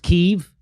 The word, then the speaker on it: Kiev: sight uh call what it's pronounced keith it's pronounced kiev i thought it was kev no it is not i know that's what they're saying uh yeah i it's chicken key yes it's not chicken keef and so i felt differently k-i-e-v chicken kiev